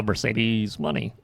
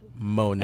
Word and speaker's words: Moné: When I first saw that name, by the way, before I heard it pronounced, I was like, "Oh, Mercedes money." that's clever. No. Monet. And then I heard it, and I was like, "Oh." It's like Jackie Monet.